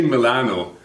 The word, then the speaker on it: Milano: they would pronounce them how do you guys say Milan in Italy uh we say Milano that's the only talking way of saying it the original way Milano yes okay Mateo is